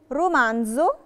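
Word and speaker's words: romanzo: يعني لو جالي الحرف قبليه حرف ساكن وبعديه حرف متحرك بنطقها زي عادي جدا. نشوف عليها مثال، رومانزو.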